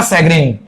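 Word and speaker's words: chagrin: सैग्रीन, इसका प्रोनाउंसिएशन है जो रहेगा सैग्रीन, वन ऑफ the most important word for the Hindu, सबसे ज्यादा वर्ड यूज करते हैं सैग्रीन।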